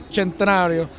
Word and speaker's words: Centenario: Everything from this beautiful Lamborghini Centenario, you have to say it like that, Centenario, to new buggies and